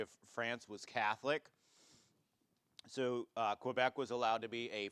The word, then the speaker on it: Quebec: But if you go to Quebec, it's supposed to be pronounced Quebec. If you speak French, you're supposed to say Quebec, right?